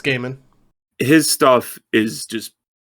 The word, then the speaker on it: Gaiman: Gaiman stuff or Gaiman, however it's pronounced. It's Gaiman.